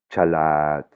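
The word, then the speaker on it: ฉลาด: Donc, ça va se prononcer chalat, chalat, hein, c'est bien un genre de che, de che, hein, c'est bien un che.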